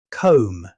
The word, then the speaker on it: comb: Comb. Even though the word ends with B, the correct pronunciation is comb. The B is completely silent.